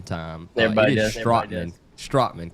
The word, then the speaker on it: Strateman: Strateman.